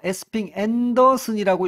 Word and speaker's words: 에스핑 안데르센: 제가 말씀드렸지만 요걸 이제 읽기에 따라서 에스핑 앤더슨이라고 읽어도 됩니다. 우리는이 많은 유형들을 한번 훑어 볼 거고요. 그리고 마지막으로 가장 많이 쓰이는 에스핑 안데르센의 복지 국가 유형 셋으로 나눌 거예요.